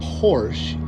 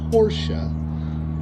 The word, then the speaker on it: Porsche: you want it Acres here's the Porsche not Porsche it's pronounced Porsche that my mother-in-law has a small price tag